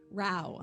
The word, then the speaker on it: Rauh: two is uh Heather how do you pronounce your last name again Ral R rhymes with wow um she is a